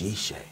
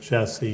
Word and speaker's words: Jesse: And you would hear a hush in the room and go, oh, that's Yeshe. That's Yeshe. You know. Your Hebrew name for the viewers. Yes. That's how you say it's biblical David's father's name was Yeshai, but Jesse. Yes.